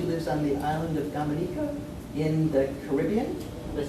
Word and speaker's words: Dominica: and now she lives on the island of Dominica in the Caribbean did I say it correctly